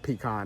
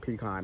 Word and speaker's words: pecan: I said pecan, that's the way my mother used to pronounce it, pecan. I usually say pecan.